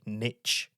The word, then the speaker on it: niche: not all of them say Niche instead of niche that's wrong just wrong straight up wrong that's not even like just a word pronunciation that's just I think it's an americanism they say Niche and not Niche it's a bit offensive